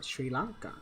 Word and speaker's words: Sri Lanka: everyone's mike watson says syringas pronounce shri lanka sri lanka sri lanka thank you mike walters because i'm